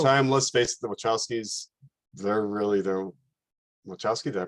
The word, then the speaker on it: Wachowski: But at the same time, let's face it, the Wachowskis, they're Wachowski, did I pronounce that right?